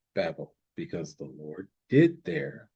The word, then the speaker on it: Babel: It is pronounced Babel.